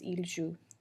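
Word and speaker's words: jouent: Notice that we don't pronounce the NT, it just sounds like the other top 3 forms, il joue.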